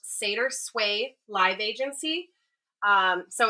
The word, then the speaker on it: SeidrSway: It is pronounced Seder Sway Live Agency.